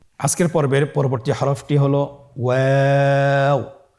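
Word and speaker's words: واو: আজকের পর্বের পরবর্তী হরফটি হলো ওয়াও। আমরা স্ক্রিনে দেখতে পাচ্ছি ওয়াও হরফটি উচ্চারণের ক্ষেত্রে বারিক হবে এবং 3 আলিফ টেনে পড়তে হবে।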